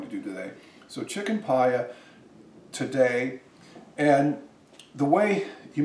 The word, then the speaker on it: Paillard: And the dish I'm going to make today is called Chicken Paillard. And it's spelled P-A-I-L-L-A-R-D, and most Americans might say Paillard and pronounce the D. In France, they won't say the D, so it's Paillard.